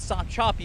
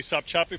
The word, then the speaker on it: Sopchoppy: Let's go to Gary Tuckman, and I'm not sure I'm saying this right, but stop choppy Florida. Gary. John, you are saying it correctly, Sopchoppy, Florida.